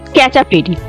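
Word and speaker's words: Khecheopalri: 30 টাকা করে প্রতিজনে আমরা খেচিপড়ি উচ্চারণ করি বটে কিন্তু স্থানীয় ভাষায় এর উচ্চারণ হচ্ছে ক্যাচাপি যার মানে হচ্ছে পুরো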